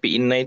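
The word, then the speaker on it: إنّ: kedua nah ini apa kalau Inna itu dengan membaca kasrh ya hamzahnya Kalau Anna itu membaca fathah hamzahnya dibacanya Anna Anna nah ini perbedaan Inna dan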